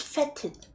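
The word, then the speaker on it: fetid: That's that's pronounced fed, right? water and feted. Hold on. Yeah, it is feted. Uh when you inhale, you can taste rank feted water in your mouth.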